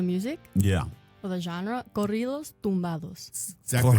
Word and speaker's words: Corridos Tumbados: Corridos Tumbados.